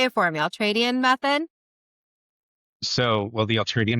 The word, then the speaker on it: Ultradian: Say it for me, Ultradian method.